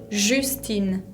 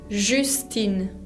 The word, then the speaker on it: Justine: Pero bueno, la J se pronuncia je. Algunos ejemplos, por ejemplo mi nombre, Justine. Justine, parecido al inglés, ¿no?